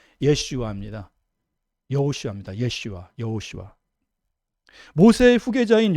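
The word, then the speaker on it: ישוע: 예수님의 그 히브리식 발음은 예수의 히브리식 발음은 예슈아 여호수아 예슈아 여호수아 모세의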